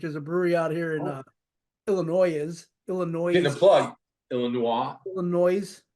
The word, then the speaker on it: Illinois: I'm like there's no the s is silent bro I live in Illinois